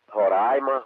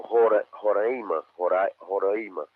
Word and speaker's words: Roraima: Roraima ou Roraima, é esse nome aí. Já me falaram, sim. Os dois estão certos.